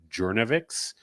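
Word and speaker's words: Journavx: I believe it's pronounced Jouavix.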